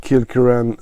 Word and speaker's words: Kilkerran: on the tube here uh yeah they say kilan I won't pronounce the gik is too complicated for me